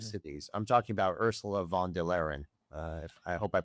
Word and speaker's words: von der Leyen: I'm talking about Ursula von der Leyen. Uh if I hope I pronounced her name correctly. von der Leyen.